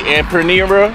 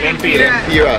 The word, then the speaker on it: Lempira: All right, guys, the food, all the food came up to 250 empanera. I said it wrong. Lempira. Lempira.